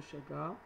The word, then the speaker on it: Chagas: par déjection d'un insecte hématophage, la maladie de Chagas, ou Chagas, vous la prononcez quand vous voulez.